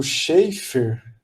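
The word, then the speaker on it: Schafer: começa com com essa citação do livro do Scheffer né de pronuncia assim é um teórico compositor canadense né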